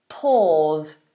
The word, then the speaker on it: pause: lot so pose versus pause to freeze something so if I pause the video I stop the video momentarily to pause pose pause pose pause notice how those s's are sounded like Zeds pose pause stop it